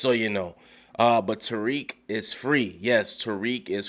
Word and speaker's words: Tariq: got on me it's telerik i know not tyrique but listen i don't speak that european language i'm i'm all uh but but i'm trying to say it correctly tariq is free from jail yes um and let